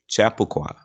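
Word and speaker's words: Chappaqua: just fine for me chapaqua and pronounced Chapa chapaqua New York is where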